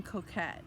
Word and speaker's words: coquette: You can put in coquette. Coquette is spelled coquette.